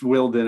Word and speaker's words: Wilden: I hope I pronounced your last name right. It's Wilden, actually.